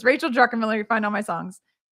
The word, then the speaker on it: Druckenmiller: I'm like, it's Drucken. Rachel Druckenmiller. And Phil, so good to see you. So good to see you, Phil. I think sometimes I still, even though I know that, I still say it wrong because it just comes out like Druckenmiller sometimes.